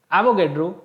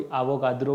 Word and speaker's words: एवोगैड्रो: कोई एवोगाड्रो भी बोलता है इसको, है ना, तो प्रोनाउंसिएशन इसका क्या है, एवोगैड्रो बोलते हैं वैसे तो इंग्लिश में, ठीक है, तो हिंदी में इसको एवोगाड्रो भी जो है बोला जाता है।